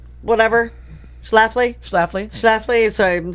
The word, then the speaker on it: Schlafly: please let Al take care of Schleifly? Whatever. Schlafly? Schlafly.